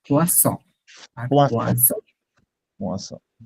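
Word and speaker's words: poisson: পোয়াজন, পোয়াজন, আর এটার নাম হচ্ছে পোয়াসন। ডাবল এস হচ্ছে ছ, সিঙ্গেল এস হচ্ছে জ।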